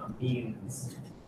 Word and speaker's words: amine: Amide with a D, amine with an M. These are not next to carbons with double bond to oxygen, so that makes them amines.